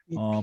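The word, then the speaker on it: Wi-Fi: 예, 와이파이라고 읽는 사람도 좀 있지만 위피, 프랑스 비롯해서 많은 유럽의 사람, 동유럽 사람들은 위피라고 있습니다.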